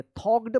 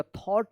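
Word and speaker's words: thought: पे जी एच जो है ना यहां पे साइलेंट है थॉट पढ़ेंगे थॉक्ड मत पढ़िएगा थॉट पढ़ेंगे फॉर अ few minutes and answered यहां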